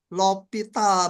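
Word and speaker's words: L'Hôpital: ya yang namanya aturan lopital bacanya lopital ada yang nulis di buku l Hospital ada yang l hopital gitu ya beda-beda Ya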